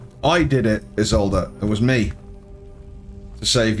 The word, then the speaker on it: Isolde: Turns out Isolde's a vampire.